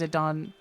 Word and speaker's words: Zidane: The main character is called Zidane or Zedane. Uh, but his name is pronounced Zidon because it's Jadan and it was uh I'm pretty sure they named him after the football player. You hate Zidon?